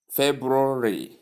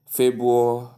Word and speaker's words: February: The correct pronunciation has the R after the B as we stated earlier.